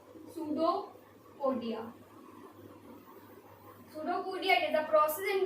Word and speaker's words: pseudopodia: क्या pseudo, p s u p silent होता है, pseudopodia।